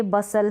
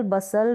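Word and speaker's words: bustle: पर sound, T जो है ना यहाँ पर साइलेंट है, S है T से पहले वहाँ पर। जैसे ये बसल है, रैसल है, विसल है, हसल है, T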